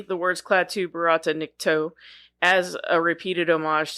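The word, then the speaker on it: Barada: say the words Klaatu Barata Nikto as a repeated homage to the day the Earth stood still, but a slight variant in the word he pronounces the second word as Varata.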